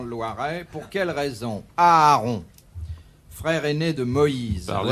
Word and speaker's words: Aaron: Pour quelle raison Aaron, frère aîné de Moïse. Parlez Ouais. à sa place. Aaron, tout simplement. Aaron, frère aîné de Moïse. Oui. Pourquoi Un peu pas son Aaron impresario.